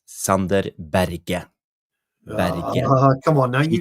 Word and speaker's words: Sander Berge: I just want to say to Jarle Malmin, yes, his name is not Sander Berge, it's Sander Berge.